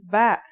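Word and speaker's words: ب: Our first letter of this lesson is B. And yeah, it makes a B sound.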